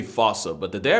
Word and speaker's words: fossa: lemurs everywhere the fusa although with its spelling I'm pretty sure it's actually fossa but the day I pronounce it like that is the day I lay my childhood to rest the foosa is pretty much a